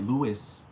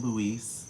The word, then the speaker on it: Lewis: or just be like Louis Louis lis Don't Call Him Louise because his name isn't even spelled like that that's why I would